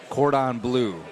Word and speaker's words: cordon bleu: The tachos cordon bleu There we go.